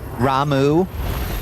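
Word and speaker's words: Ramuh: Ramu, though.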